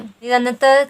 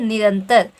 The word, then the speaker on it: निरंतर: ठीक है, ये तीनों ही ध्वनियां आपकी सही नहीं है, तो आपका सही क्या है, निरंतर, निरंतर। ठीक है, न में क्या पड़ रहा है, आपका जोर पड़ रहा है, फिर आगे आधा न, निरंतर।